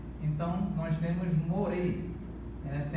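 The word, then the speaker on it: מורה: Então nós temos o segolo, outro sinal massorético indicando aqui a vogal E. Então nós temos more, essa é a pronúncia, more, professor.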